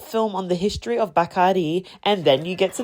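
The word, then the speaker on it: Bacardí: I know you probably pronounce it Bardi, but it's Bakari.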